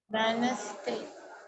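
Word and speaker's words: Wednesday: இது capital W போட்டுக்கோங்க வெனஸ்டே இது எது சைலெண்ட்டா இருக்கும் டி வென்ஸ்டேன்னு படிக்கணும் வெட்னஸ்டேன்னு படிச்சிடக்கூடாது வென்ஸ்டே வென்ஸ்டேன்னு படிக்கணும்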